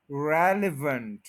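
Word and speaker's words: relevant: थोड़े डिफरेंट होते हैं रेल इसपे स्ट्रेस है फिर अ और फिर वेंट रेवेंट रेवेंट रेलीवेंट ऑलमोस्ट हम ठीक बोलते हैं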